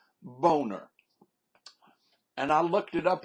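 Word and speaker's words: Boehner: got why in the look how that man's name is spelled b o e h n e r how in the world did they get an A sound out of that name I'm sorry the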